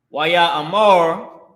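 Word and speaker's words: וַיֹּאמֶר: We'll put this how you pronounce it. Wa, Ya, A, Mar.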